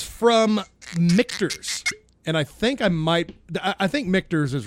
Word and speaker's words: Michter's: And I think Michter's is right. Michter's? It's spelled close to Richter, like Richter scale.